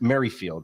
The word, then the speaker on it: Merrifield: Let's get into the real important things that happen here, because as soon as Witt, it's Merrifield, right? I want to get this right. Yeah. Am I pronouncing that right?